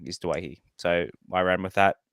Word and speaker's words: Doueihi: last year late last year um the correct pronunciation is dwighty it's not Dewey and uh I knew this because of my